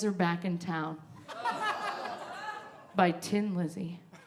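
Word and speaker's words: Thin Lizzy: And the song that I got was The Boys Are Back in Town by Tin Lizzy. You didn't even know it was Tin. It's spelled thin, and it's tin.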